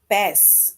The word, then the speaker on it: bass: It says bass is a variety of spiny, fine, or finned fresh water and saltwater fish, right? And in this sentence, we get bass that rhymes with grass, right?